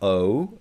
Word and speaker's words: ho: It's not O. It's not HO. It's O which means I have and E which means is which we've seen in the first uh very first unit about the alphabet.